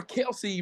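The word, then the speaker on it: Kelce: first of all six thank you for pronouncing Kelsey name correctly that kept said Kelso but it's Kelsey thank you for that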